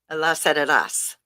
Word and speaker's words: Elazaras: because his last name is very challenging. 5 syllables. I usually only get 4. His name is Manny Elazaras. Was that 4? Elazaras. I That's think 5. the second one you got it.